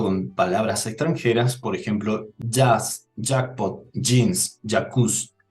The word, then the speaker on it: jazz: Otro punto con palabras extranjeras, por ejemplo, jazz, jackpot, jeans, jacuzzi, donde la letra J se pronuncia como si fuera una letra G.